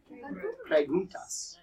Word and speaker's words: preguntas: Preguntas.